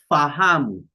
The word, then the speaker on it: fahamu: An example, in Swahili, to know or to understand, we say fahamu, fa, f, f, then a, fa, then hamu, fahamu, to know or to understand.